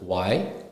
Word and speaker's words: why: it comes to H the letter H is usually silent when it appears after W for example why and what we never stress on H here so it's y w y and what w a t